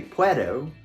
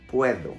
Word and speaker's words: puedo: not a native speaker the d in english has a very strong and explosive sound i say do don't doubt in spanish it's more like a th in the word there for example in the word puedo we don't say puerto but puedo think about it as p-u-e-t-h-o puedo there are other words where